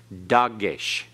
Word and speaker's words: dagesh: Dagesh.